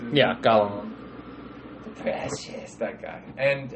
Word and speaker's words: Gollum: Yeah, Gollum.